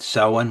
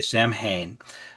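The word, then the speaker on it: Samhain: Uh it's um it's depending on who you talk to and how you pronounce it, but Sen works for me. Some people say Sam Hayne.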